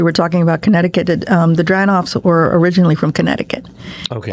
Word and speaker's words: Dranoff: So tell me about Dranoff to, am I saying it correctly? Dranoff.